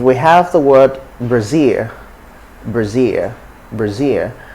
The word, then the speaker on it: Brazil: have the word brazil brazil brazil so it's not breezy it's just brazil brazil city spelling brazil that's